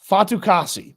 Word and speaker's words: Fatukasi: I'm going to go get the pronunciation right. Fatukasi.